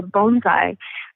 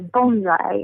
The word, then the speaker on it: bonsai: But the plant in a pot, you pronounce it like our bone, so bonsai.